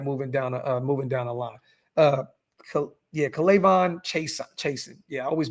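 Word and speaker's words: Chaisson: It's Chason, though.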